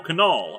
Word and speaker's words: Kunal: wedding a fun fact you pronounced the K in my last name so Michael Kunal okay noted for future